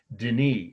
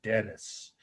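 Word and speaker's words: Denis: s AI n t Deni is the French would say we'd say Dennis and that's d n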